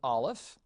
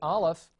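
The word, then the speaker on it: Aleph: that's the cursive now the olive is really a silent letter it is not pronounced it is still pronounced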